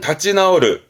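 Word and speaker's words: 立ち直る: 나오르는 고쳐지는, 위에 나오스는 고치다, 나오르는 고쳐지다로 쓰게 되는데 발음은 다찌 나오르.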